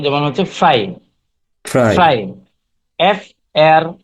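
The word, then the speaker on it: frei: এই আই থাকলে আয়ের মতো উচ্চারণ হয়। যেমন হচ্ছে ফ্রাই, ফ্রাই।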